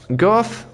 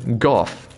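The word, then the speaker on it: Gough: And Goff is not Go, but Goff.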